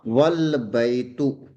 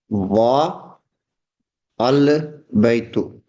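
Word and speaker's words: والبيت: So it is pronounced wal baytu. It is pronounced wal baytu and not wa al baytu. We will not pronounce wa al baytu. This wa al baytu is incorrect. Wa al baytu is incorrect. We cannot pronounce like this. We will pronounce wal baytu.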